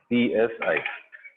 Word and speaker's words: psi: तो एक क्वांटिटी उन्होंने बनाई wave function, right, which is denoted by psi, is read as psi. P is silent.